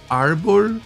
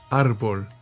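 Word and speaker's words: árbol: Wait, does tree really start with arbul? Arbul. Arbul arbul. Alexa, how do you say tree in Spanish? Okay, it does have it. Arbol.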